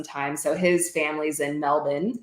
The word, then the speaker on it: Melbourne: so his family's in Melbourne is how they say not Melbourne don't say it right Melvin um Melbourne so we definitely would